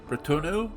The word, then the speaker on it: Bretonneux: Bretonneux? I know that X is silent, that's all I know.